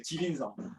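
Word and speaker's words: 吉林省: 중국에서는 발음이 좀 그런데 옌벤인데 여기에 이제 길림성을 중국말로는 찌린성이라고 그래요. 지린성.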